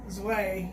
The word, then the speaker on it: Zwei: It's Z-W-E-I. Zwei. How you I think pronounce it's Zwei. Zwei? Yeah, Zwei.